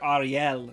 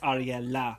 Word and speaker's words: Ariela: corrected him multiple times he's calling her Ariel it's ariela yes like don't forget that